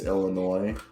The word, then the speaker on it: Illinois: Like, I've learned that it's Illinois, but like you go to the East Coast and they're like, oh, you drive through Illinois? Oh, do they pronounce the S?